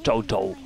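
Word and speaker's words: Cao Cao: gauche à côté de Koo Kao qui se prononce Cho voilà à côté de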